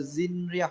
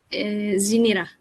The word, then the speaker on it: Zinira: So Zinria, am I pronouncing your name right? Zinira. It's Zinira. Zinira.